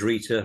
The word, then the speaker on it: Rita: Yeah, name's Rita, rhymes with Beta.